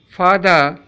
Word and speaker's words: father: Here, serial number 11, father, R is silent, in serial number 16, market, R is silent, serial number 19, respect, R is pronounced.